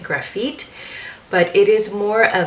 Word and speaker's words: Grafite: So here I am wearing Grafite, or I've also known people to pronounce it Grafite, but it is more of a grayish blue color.